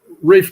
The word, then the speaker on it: Reef: Is it Ref or Reef Blue? Reef Blue. Yes.